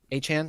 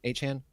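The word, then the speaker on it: Achane: I really want to see Achan, right? Achan. That's how it's said now.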